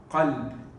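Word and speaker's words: قلب: pronounce the kaf like a kaf, and instead of saying heart, you're saying dog. You're changing the meaning. It's dangerous. So Qaf, qalb. Qaf lam ba is heart. Kaf lam ba is dog.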